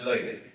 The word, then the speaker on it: Looney: It's pronounced Looney.